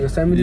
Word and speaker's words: Yosemite: That's how you say it, Yosemite.